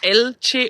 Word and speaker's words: Elche: Karin dit que cela se prononce Eltsche.